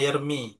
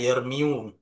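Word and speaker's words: يرمي: Jadi kita bacanya yarmi. Bukan kita baca yarmiu karena rafanya dengan domma yang muqaddar.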